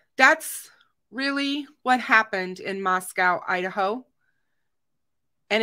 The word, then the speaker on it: Moscow: So Moscow is not pronounced Moscow, by the way, guys. It's Moscow. It rhymes with Costco. It is not pronounced like the Russian capital.